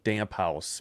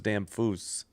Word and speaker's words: Damphousse: So if you were just reading it like English, damp house, but it was Damphousse.